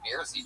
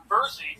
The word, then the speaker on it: Bersey: The fucking Beersy triplets. Tell us something interesting about you guys. Our name is pronounced Bersey triplets. Like Jersey.